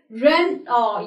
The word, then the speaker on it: Renault: word can be pronounced the right way to pronounce this word is Ren oh yeah actually I'm interested in buying Renault car the brand you're not is actually producing